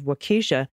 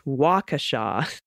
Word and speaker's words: Waukesha: is to say wrong the accent is on the first syllable not the second syllable as my Spanish words do in California it's Waukesha very well Waukesha gotcha